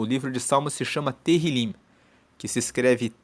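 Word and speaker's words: Tehilim: No original, na Bíblia original, o livro de Salmo se chama Terilim, que se escreve T E H I L I M. E Terrilim significa louvores.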